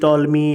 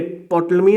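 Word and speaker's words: Ptolemy: टोटलमी मैंने टॉलमी बोलते हैं इनको, पी साइलेंट होता है, सॉरी, है ना।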